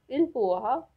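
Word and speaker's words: il pourra: The next one is he will be able or she will be able, which will pronounce as il puha for masculine and el puha for feminine.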